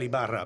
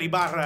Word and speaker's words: Ibarra: I was about to say Miguel Ibarra, but they didn't say that. They pronounced it Miguel No, Ibarra. but it's a little challenging rolling those R's for some we people.